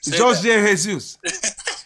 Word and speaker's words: Jorge Jesus: Jorge Jesus.